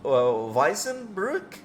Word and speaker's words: Waisenbrücke: It's called the Waisenbrücke, I think is how you pronounce it, which means like orphan bridge in German.